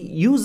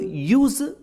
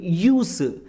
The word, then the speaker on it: use: Actually ಇದಕ್ಕೆ ಟೂ ಪ್ರೊನೌನ್ಸೇಷನ್ಸ್, ಎರಡು ಉಚ್ಚಾರಣೆಗಳಿರೋದು. ಒಂದು ಯೂಸ್ ಝ ಶಬ್ದದಿಂದ ಎಂಡ್ ಆಗೋದು, ಇನ್ನೊಂದು ಯೂಸ್ ಸ ಶಬ್ದದಿಂದ ಎಂಡ್ ಆಗೋದು.